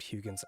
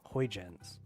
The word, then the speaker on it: Huygens: Yeah, Huygens. Huygens? It is Hoy.